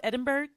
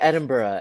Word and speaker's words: Edinburgh: But yeah, I heard is is it pronounced Edinburg? I think. Yeah. Edinburgh. Edinburgh. Edinburgh. Oh, Edinburgh. So, I've been doing it all wrong. No, I thought Edinburg. I was like Edinburg. I thought it was Edinburg for the longest time, too.